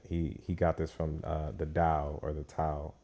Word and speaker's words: Tao: He got this from the Tao or the Tao. It's Tao with a D, but it's spelled with a T.